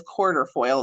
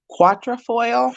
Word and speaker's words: quatrefoil: I used to think it was quarter foil. It's not quarter, it's quatrefoil. We'll say quatrefoil.